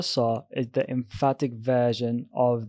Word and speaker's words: ص: The letter sa is the emphatic version of the letter sa. It's pronounced like a heavy S with a deep and bold tone.